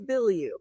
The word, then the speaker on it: Bilyeu: It's Bilyeu. Bilyeu. Yeah. See, I thought that's what the way, so it actually is spelled exactly the way it sounds.